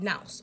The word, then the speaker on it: nous: Basically, in Hermeticism, that's called nous or nous. It's spelled I think Nouse. Okay, nous. Okay.